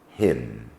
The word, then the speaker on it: hymn: Some words ending in N do not sound it, as in autumn, column, hymn.